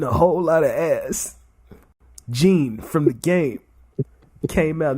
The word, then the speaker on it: Gene: Gene? Yep, Gene.